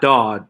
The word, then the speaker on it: Dawe: last name ah dawg d-a-w-e it's like a aw with a d yeah i know i